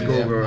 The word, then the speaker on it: Gorgoroth: It is Gorgoroth.